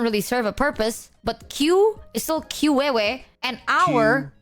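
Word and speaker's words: queue: But then for some reason, we still say Q and we spell it Q U E U E. Even though if you remove all the other letters aside from the first letter, it would still be Q.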